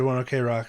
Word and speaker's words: ONE OK ROCK: o'clock I don't know people say I'm saying it wrong I don't know I I was listening to an interview and they said one okay rock so I was like uh I guess I'll believe the band anyway uh thank you